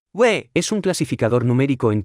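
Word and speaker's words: 位: repita en voz alta se pronuncia con el cuarto tono we es un clasificador numérico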